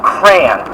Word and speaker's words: crayon: be that I can pronounce the word crayon as cran because I've learned to pronounce it as crayon since I was a little kid and